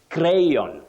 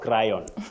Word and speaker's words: crayon: Then you say crayon, not crayon.